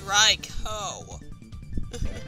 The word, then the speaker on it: Raikou: It's Raikou. Yeah. Well, yeah. Because OU is a long O sound.